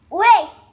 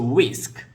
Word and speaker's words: whisk: Waste. It's a whisk Why you say waste? whisk Waste. you have to say sk whisk Waste.